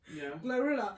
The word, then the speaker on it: GloRilla: Say I say like bro Glorilla.